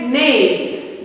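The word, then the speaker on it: gneiss: to make slaves and black balls the next nays nasal spelling g and e i s s anaginum it will pronounce as names as a metabolic rock formed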